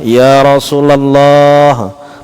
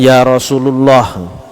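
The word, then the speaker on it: يا رسول الله: vakuola Nuning ucap sofa Betulkah Ya Rasulallah munada mudhof bukan Ya Rasulullah Ya Tia Rasulallah Ya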